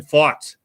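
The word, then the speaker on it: Pfaadt: Brandon Fott is how you pronounce that, of the Arizona Diamondbacks.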